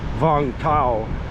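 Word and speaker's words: Vũng Tàu: The name Vung Tau, which I'm thinking that's actually the correct pronunciation, Vung Tau, means anchorage, and it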